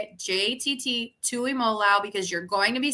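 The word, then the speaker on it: Tuimoloau: on jtt learn how to say it jtt Tu Imola because you're going to be saying that on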